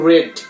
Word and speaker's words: read: আর passive ভয়েসের চাহিদা অনুযায়ী রিড এই শব্দটার বি3 হচ্ছে রেড, উচ্চারণটা রেড হবে, আর হচ্ছে বানানটা একই।